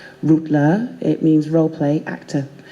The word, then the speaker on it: Rolla: great-great grandfather is Russian my surname is Rolla it's spelled ro double la it's spelled phonetically root low it means role play